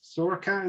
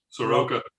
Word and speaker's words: Soroka: his name dave yes soraka is it soroka it's pronounced like it's spelt j soroka um yeah